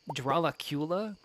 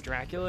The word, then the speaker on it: Dracula: that it was uh it said dralacula or something it was like um like a different um like pronunciation of Dracula and I was like no that don't hit the same that's wrong all right I'm smelting up